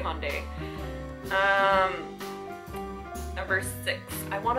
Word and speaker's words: Hyundai: first car was a red hyai hondai tomato tomato I don't know how you guys pronounce it but I say Hyundai um number six I